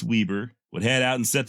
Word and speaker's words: Weber: Danish man called Weber spelled Weber but I believe it's pronounced Weber would head out and